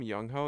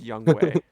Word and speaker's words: Youngho: of stuff for me i call him young ho even though it's not even how you pronounce it i'm sure it's not i wouldn't want to be if my name was youngho i definitely wouldn't want to be called young it's young way but no way yeah